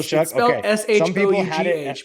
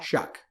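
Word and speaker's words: Shough: well I don't know it still Shucks but it is pronounced Chuck and I feel like every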